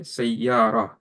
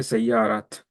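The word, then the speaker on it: سيارة: When you stop in a word that has ta marbuta, you say sayyara. You pronounce this as a ha, not as a ta. You don't say sayyarat. You say sayyara.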